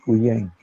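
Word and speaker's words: Quyen: Michel Levan Cuyen, Michel Levan. sí, Cuyen, Michel Levan Cuyen, se escribe Q-U-Y-E-N, Cuyen.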